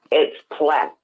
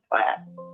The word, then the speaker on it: Platte: But it's not Platte, it's Platte. Okay, but it is the name of it is Platte. Is that correct? Yes. Okay. It's just pronounced Platte.